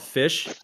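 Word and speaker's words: Phish: I mean, there's even been like in like, you know, in Okay, there's a band I really like there called Fish. It's spelled P H I SH.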